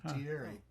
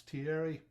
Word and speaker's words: Thierry: That's the way the soccer announcers pronounce it. Thierry. And the TH in French is spelled pronounced as T. Yeah. And then it's IERY, so it's Thierry.